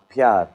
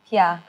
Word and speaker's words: प्यार: Pyar. Pyar.